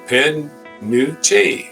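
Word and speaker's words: penuche: National punuch fudge okay try again p is pronounced P pen new hey I I pronounced it right it's p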